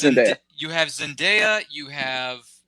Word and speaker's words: Zendaya: Is that how you pronounce her name? I hope I'm saying that right. Zendaya. Yeah, I believe it's Zendaya.